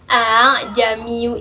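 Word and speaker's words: ءَاعْجَمِيٌّ: Nah, pada Quran surat Fussilat ayat 44 ini, dalam potongan ayat a'jamiyu itulah yang disebut dengan bacaan gharib tashil. Cara membacanya adalah dengan meringankan bunyi hamzah yang kedua. Bagaimana? Seperti ini. A'jamiyu, a'jamiyu, a'jamiyu.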